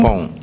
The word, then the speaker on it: Frimpong: Frimpong, F-R-I-M-P-O-N-G.